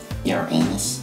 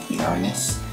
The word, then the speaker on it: Uranus: as you go some people pronounce my name Europeans but it's actually pronounced Uranus largest planet in the